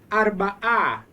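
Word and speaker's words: אַרְבָּעָה: And Amos, you've seen this in your pronunciations, this silent hey at the end with the ah sound before it. It's a sign of the feminine.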